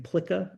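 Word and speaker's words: PLCAA: and arms act that usually gets pronounced as pla although I've been hearing plea a bit recently but pla um generally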